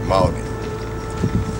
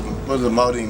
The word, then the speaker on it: Maldene: So there's no such thing as a silent letter. So why is the last letter on Maldene silent?